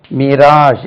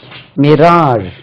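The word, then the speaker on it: mirage: இங்கிலீஷ்ல ஒரு வேர்ட் இருக்கு மிராஜ் எம் ஐ ஆர் இ ஏ ஜி இதை பாருங்க இப்படி மிராஜ் மிராஜ் மிராஜ் காணல் நீர் அது மிரேஜ் இருக்கு பார்த்தா படிச்சா மக்கள் மிரேஜ் எம் ஐ ஆர் ஏஜி மிரேஜ் இல்ல மிராஜ் மிராஜ் தென் இப்படி ஒரு சவுண்ட்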